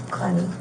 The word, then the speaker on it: Clenney: And your last name, how do you pronounce it? Clenny.